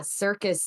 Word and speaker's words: circus: You got that S sound in the beginning, but it's spelled with a C. So in phonetics, you would write it with an S instead of a C.